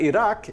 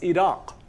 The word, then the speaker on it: Iraq: country with a queue it's not iraq it's iraq iraq with a nice hollow q sound in the back anyway so you sure